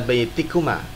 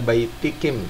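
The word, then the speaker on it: بَيْتِكُمْ: Walaupun dalam keadaan jar jangan dibaca baitikim, salah.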